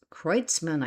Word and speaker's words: Kreutzmann: do not ever say this name right, Kreutzmann, pronounced Kreutzmann, I think, and Mickey Hart, and the vibrant bluesy textures of keyboardist Brent Midland.